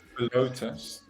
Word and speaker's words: Philotas: Philotas. That's how you pronounce it.